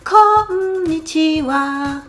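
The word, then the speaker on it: こんにちは: Connitiwa et n'oubliez pas la petite chanson qui va avec pour la bonne prononciation connitiwa.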